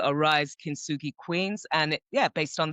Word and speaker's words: Kintsugi: So I know we had talked before about this, forgive me if I'm pronouncing it wrong. It's the Kintsugi principle.